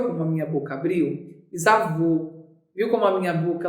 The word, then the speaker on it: bisavô: Por que bisavô tem acento? É um acento circunflexo, por conta da abertura do som ser menor. A sílaba tônica se localiza na última posição e termina em O.